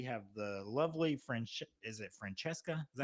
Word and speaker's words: Francesca: So on the celebrity list, we have the lovely is it Francesca? Is that how you pronounce it?